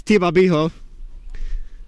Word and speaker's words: Tabo: so it turns out I was right on the pronunciation of the Lions pitcher it is Tabo feel kind of smart